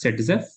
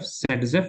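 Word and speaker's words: Zaitsev: scientist whose name is written as ZF but pronounced as setf S A YT Z EF setf he gave a rule I don't know why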